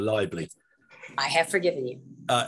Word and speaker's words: Leible: there i pronounce you i think i pronounce your name as libel instead of liable i have forgiven you